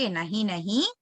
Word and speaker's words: नहीं: Okay, அந்த டாட் எல்லாம் வந்து ரொம்ப பெர்ஃபெக்ட்டா ப்ரொனவுன்ஸ் பண்றதுக்கு ட்ரை பண்ணாதீங்க. It should be stylish pronunciation. நஹீம் நஹீம் அப்படின்லாம் பண்ணக்கூடாது. ஓகே, நஹி நஹி மே மேனு பாத்தீங்கன்னா மைன் அப்படின்னு வந்து ரொம்ப அழுத்தி அந்த டாட்டை ப்ரொனவுன்ஸ் பண்ணக்கூடாது.